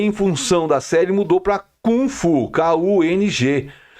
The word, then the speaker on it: kung fu: Kung Fu ku NG que na realidade é uma questão de pronúncia americana com uma série americana é como um americano pronuncia porque o nome correto é Call mesmo né que é kung fu é o nome correto de você pronunciar porque com que é